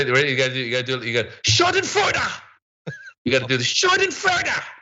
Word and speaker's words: Schadenfreude: By the way, people are correcting the pronunciation. Yeah, I am technically aware that it's Schadenfreude.